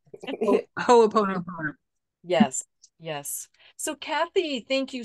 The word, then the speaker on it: Ho'oponopono: Yes, that's one of, I can never pronounce that correctly either. Right. that beautiful Hawaiian, the forgiveness mm-hmm. practice. Mm-hmm. Ho'oponopono.